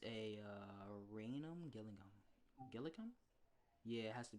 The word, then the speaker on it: Gillingham: rochester so i think it's a uh raynham gillingham gilligan yeah it has to be a gillingham